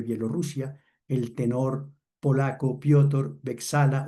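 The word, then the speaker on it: Beczała: La soprano alemana Diana Damrau, la metsos soprano Oscana Volcova de Bielorrusia, el tenor polaco Piotor, Bexala o Besagua como nos decía él que se pronunciaba y el barítono serbio Shelko Lush.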